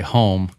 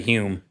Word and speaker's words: Hulme: I always say home. Holm. But how how do you say your how you just pretend that there's not an L in it and you say Hume?